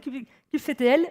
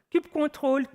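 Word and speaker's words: kubectl: un outil en ligne de commande spoiler alerte enfin spoiler discur je dit cube ctl mais on peut prononcer la cl de la manière qu'on veut cube contrôle cubon cadle on s'en fout le plus important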